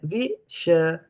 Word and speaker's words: viṣayān: So this is I'm repeating again, viṣayān. So there's a soft A here, but it has to be pronounced, and is a hard A here that you have to give a little bit more emphasis, right?